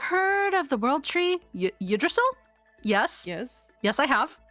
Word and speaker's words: Yggdrasil: Yggdrasil. Yggdrasil. It took me a while to learn how to pronounce that, but Yggdrasil.